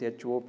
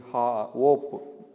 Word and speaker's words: hop: Okay, some of you are pronouncing this HOP, hope. It is not hope, it is hop, HOP, hop.